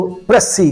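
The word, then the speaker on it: précis: उर्दू में कहेंगे उसकी तखस कर देना उसको प्रसी कहा जाता है। What is द प्रसी of this big नवेल?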